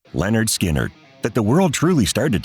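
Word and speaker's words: Lynyrd Skynyrd: It wasn't until 1973, however, when they hit it big with their debut album pronounced Leonard Skinnard that the world truly started to take notice.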